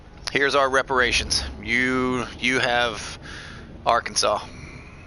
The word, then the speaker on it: Arkansas: Arkansas, we're just going to take the whole state,